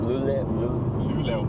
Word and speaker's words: Luleå: Luleå. Luleå? So, I'm from Canada. I don't know the language very well. Most people don't say the O in the end. We just say Luleå.